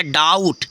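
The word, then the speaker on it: doubt: silent होता है जैसे डी ओ यू बी यहां देखो फ्रेंड्स बी साइलेंट हो गया डाउट ठीक है जैसे डाउट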